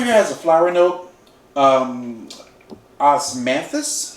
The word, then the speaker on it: Osmanthus: Osmanthus flower is how it's pronounced.